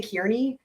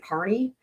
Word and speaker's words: Carney: Some people say Kearney, but he pronounces it Carney. So I'm gonna say Carney. I know it looks like it could be Kearney.